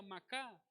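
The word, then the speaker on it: מחה: strong es la h429 se pronuncia macaa significa borrar deshacer destruir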